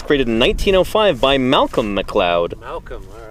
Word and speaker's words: McLeod: So the McLeod, M-C-L-E-O-D, McLeod, if you were to say it phonetically.